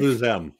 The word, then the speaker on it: Je vous aime: How do you pronounce it in real life? In real life. Je vous aime.